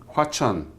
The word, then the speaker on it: Hwacheon: Hwacheon.